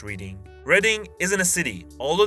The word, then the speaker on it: Reading: First of all, it's not pronounced Reading.